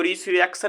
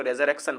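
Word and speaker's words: resurrection: लिख दिया ठीक है इसको रिसरेक्शन मत पढ़िए इसको रेजर क्शन पढ़िए देखिए अगला जो वर्ड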